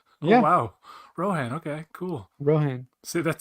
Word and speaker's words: Rohan: I don't know ran is that how it's pronounced oh wow Rohan okay cool Rohan see that shows you how